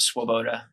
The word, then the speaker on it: Swoboda: from there yeah so my name is swaboda that's how you pronounce that swab uh it's polish spelling uh